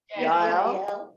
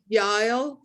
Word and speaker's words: Yael: bash the name Yael, who, how do you pronounce her name? Yael. Yael.